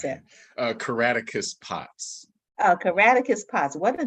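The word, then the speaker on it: Caractacus Potts: Day, Willie in The View Upstairs, is it Caracatus? How do you pronounce that? Caraticus Potts.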